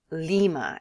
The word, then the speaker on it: Lima: Ila capital de Peru sounds like a type of Bean Lima exacto Lima as La